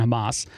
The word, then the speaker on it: Hamas: and the terrorist organization Hamas. That's the right way to say that, by the way.